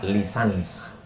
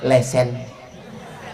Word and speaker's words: licence: Tulisannya licence. Cara membacanya lisans. Kalau di Malaysia lesen.